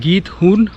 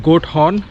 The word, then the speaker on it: Giethoorn: Giethoorn इस शहर का नाम बेसिकली इसको प्रोनाउंस करते हैं गीतहूर्न या फिर गोट हॉर्न।